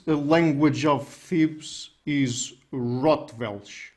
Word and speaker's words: Rotwelsch: so this is a language of thebes is rottweil right is that the correct pronunciation it is as far as anyone can